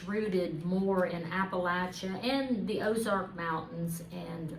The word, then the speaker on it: Appalachia: they pronounce it is Appala, the way you Appalachia. kind of like I've got an apple here and I'm going to throw an apple at you.